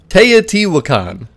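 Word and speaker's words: Teotihuacán: me in the comments I did look it up but apparently it's te wakan but whatever it doesn't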